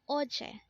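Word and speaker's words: 어제: OJ again this is pronounced as Oche and this is used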